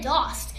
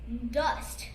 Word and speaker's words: Dost: And first of all, that is not how you pronounce my last name. And for people of you that don't know, it's Dust.